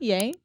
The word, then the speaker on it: Ye: Is it not Ye?